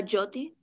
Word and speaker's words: Jyoti: you so much hey hannah thank you okay jyoti has to unmute great you're unmuted and am i pronouncing your name correctly how do you say it it's uh jyoti good okay pretty close yeah pretty close okay